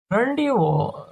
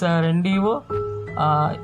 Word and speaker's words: rendezvous: Rendezvous, it is an agreed meeting place and time. You can see the pronunciation, it is not rendezvous, it is rendezvous.